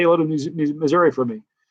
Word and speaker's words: Missouri: Say hello to Missouri for me. Or as they say, Missouri. That's how they say it there.